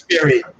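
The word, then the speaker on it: Jesperi: It's Yesperi. First name is Yesperi, Brian.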